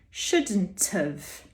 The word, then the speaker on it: shouldn't have: up onto the vowel shouldn't have shouldn't have it sounds like shouldn't of but it's not shouldn't have we're saying shouldn't have but we pronounce the have as of shouldn't have shouldn't have